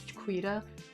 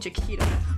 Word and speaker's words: Jaquita: It's Jaquita, and I've been saying Jaquita.